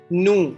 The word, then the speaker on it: nous: Nous sommes. Please be careful. S is silent in the nous.